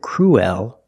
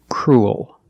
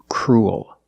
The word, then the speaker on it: cruel: to a dark l cruel it sounds like pool and cool you have the long u sound followed by the dark l pool cool and this word is cruel it's the opposite of